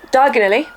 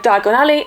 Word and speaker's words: Diagon Alley: The mispronunciation can send you to the wrong place, and again we see this happen when Harry says diagonally instead of Diagon Alley, and he ends up in Knockturn Alley instead.